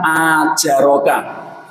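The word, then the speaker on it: آجَرَكَ: satu huruf yang salah kalimat ajaroka itu ajaroka kan huruf hamzah terlalu panjang ajaro yuajiru muajaratan itu mudah-mudahan Allah memberi pahala a Jarak itu dibacanya panjang nulisnya juga pakai Alif lalu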